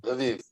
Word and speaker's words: Lviv: that the Canadian devotees are sponsoring devotees in Lviv, if I pronounced it correctly. Yes, Lviv.